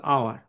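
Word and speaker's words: hour: হুম, অনেকে এটা হাওয়ার উচ্চারণ করে, না, এটা কিন্তু আওয়ার। হুম, আর এর উচ্চারণও যদি বা হবে না, মানে আওয়ার। আই am standing here for আওয়ার, তাহলে এখানে এইচ এর উচ্চারণ হচ্ছে না, না হলে এন।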